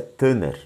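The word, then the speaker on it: תנ״ך: tanak mas a pronúncia tanar né essa essa última é um ret ele é ele é falado como meio gutural é um R como se fosse três RS né na pronúncia e você vai ver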